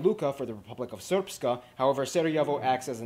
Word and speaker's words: Srpska: Essentially, Bosnia and Herzegovina is divided into the Federation of Bosnia and Herzegovina and the Republika Srpska. I know, it looks like it's pronounced Srpska.